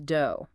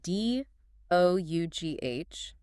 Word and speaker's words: dough: It becomes dough. One second. Pause. Let's break down that word. D. Yes, it is spelled D O U G H.